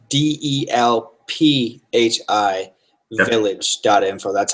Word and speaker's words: Delphi: so people know it's D elph I village dot info that's how you spell it yep and Delphi but it is certainly proper to pronounce Adele fee which is the more European Way our resident Bulgarian likes